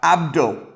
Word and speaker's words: Abd Ul: The reason I pronounce the name strange is because it's ABD space UL, all right? Abd Ul.